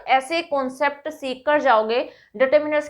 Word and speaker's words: determiners: तो सबसे पहले तो आप यही याद रखिएगा कि इसका जो प्रोनाउंसिएशन होता है वो डिटरमाइनर्स नहीं होता, दैट इज डिटर्मिनर्स।